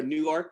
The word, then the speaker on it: Newark: in newark delaware um spelled the same as newark new jersey but it's uh we are new york delaware um and this is